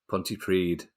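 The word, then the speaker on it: Pontypridd: ali uh Ponty priest how do I pronounce Ponty priest Ponty pred so was close Ponty you hang don't get say Okay hold it h there you go that's how you pronounce it thanks Al anyway United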